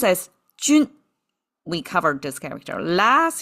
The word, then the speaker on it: 军: Pronounced as jun.